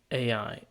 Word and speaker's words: AI: There is a correct way, but I'm curious about what other people think or know. So most people say AI and less people say I. So apparently it's pronounced like I.